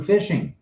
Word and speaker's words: phishing: A lot of that can be hacked away from us and through phishing.